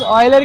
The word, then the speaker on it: Euler: यूलर नहीं भैया, ऑयलर है। ऑयलर तो लोग यूलर पढ़ते हैं, पर ये ग्रीक मैथमेटिशियन टर्म है ऑयलर। अच्छा। तो ग्रीक वर्ड है इसलिए उसका प्रोनाउंसिएशन थोड़ा अलग होता है।